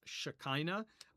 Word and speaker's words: Shekhinah: The word sakin comes from the same root as the Hebrew word shekhinah, which is often pronounced as Shekinah by English speakers.